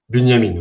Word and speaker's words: Bunyamine: du mentoraat et aujourd'hui on va venir interviewer Bunyamine. C'est bien comme ça que ça se prononce ? Bunyamine.